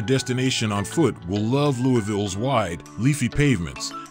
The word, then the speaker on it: Louisville: Kentucky's largest city, "Loo-a-ville" as it's pronounced by locals, offers no end of exciting things to do, whatever your interests.